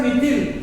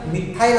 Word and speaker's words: मिथाइल: आता इथं मिथिल याचा उच्चार काही जण मिथाइल असा करते, तेही बरोबर आहे. मिथिल केला तरी बरोबर आहे.